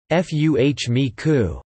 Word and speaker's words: FMECA: When combined with criticality analysis, FMEA is known as failure mode, effects, and criticality analysis or FMECA, pronounced F-U-H-M-E-C-U.